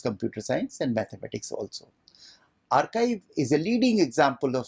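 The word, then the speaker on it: arXiv: archive it is spelled as a rxiv but pronounced as archive that was started in 1991 by Paul jinpark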